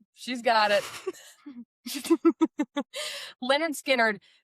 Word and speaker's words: Lynyrd: Leonard Okay. Skinner. Yes. They spell it with 4 Y's.